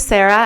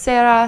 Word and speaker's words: Sara: uh my name is Sarah as I said before um my name can be pronounced as Sarah Sarah it does not have